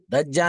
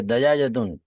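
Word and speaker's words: دجاجة: हम्म जालिका दीकुन हम्म व तिलका दज्जाजतुन, दज्जा नहीं, गलत है, दजाजतुन, प्रोनाउंसिएशन गलत, जीम पर तशदीद नहीं, दजाजतुन फतहा।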